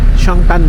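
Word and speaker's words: Zhongtan: zong chongan road pero it's spell as z pero they pronounce it as choan chongtan road air shop family ch road airsop andito na kami sa 1003 actually May MT diyan.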